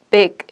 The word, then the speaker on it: big: 이게 발음 기호인데 이 첫 번째 이는 좀 짧은 이예요. 그리고 좀 뭐라고 해야 되지? 입을 좀 덜 벌리는 이예요. 그래서 이렇게 해서 big 이렇게 발음을 하는데 두 번째는 여기 점 2개 있는 거 보이시죠?